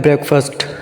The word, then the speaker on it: breakfast: ये जो लफ्ज़ है ना BRE है, कि इसको ब्रेक नहीं बोलना, ये होता है ब्रेकफास्ट, BREAKFAST।